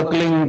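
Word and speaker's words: क्लीं: की मात्रा और बिंदी उसका उच्चारण होगा क्लिंग ग ग की निकलेगी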